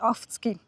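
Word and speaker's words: Affoltern am Albis: Affoltere am Albis. Also ja, man sagt, es ist Affolter, aber ich bin dort ganz in der Nähe aufgewachsen und wir haben immer gesagt Afzgi.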